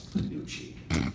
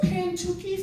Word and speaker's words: Panucci: But the old women come up and they're like, what's the Pantucci fudge? What's an ingredient in the Panuc? I've heard Pantoodle. That is the worst pronunciation. Pantootle. The word doesn't have one T.